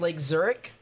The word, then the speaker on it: Lake Zurich: Pronounced Lake Zurich.